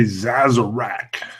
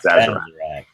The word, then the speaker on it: Sazerac: And it was one of the most satisfying Sazeracs I've had in a while. How do you say that, Bart? Say Sazerac. Sazerac. Overpronunciation of the Z.